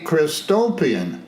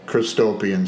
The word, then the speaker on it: Christopian: Christopian is spelled Christ, as in Jesus Christ, and opian is spelled O, P as in Paul, I-A-N, as in Nancy. And that's as in utopian.